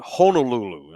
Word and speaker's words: Honolulu: I'm in Honolulu. The locals pronounce it Honolulu, on the island of Oahu in the hellscape that is Hawaii.